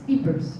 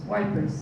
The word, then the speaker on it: Ypres: This is Ypres, Wipers, as you probably pronounce it.